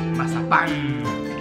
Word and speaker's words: Mazapán: Con el acento en la A. Mazapán.